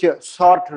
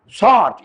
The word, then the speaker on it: Sartre: Sartre, S-A-R-T-R-E. I mean, some people say Sartre. I don't know, but my teachers in Stanford, they said Sartre. Probably the French way, the Anglicized way may be different pronunciation.